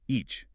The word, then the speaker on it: each: The word each ends in the satch sound. Tess. It is explosive. Your tongue must physically touch the roof of your mouth and release. It is not a soft sheath sound.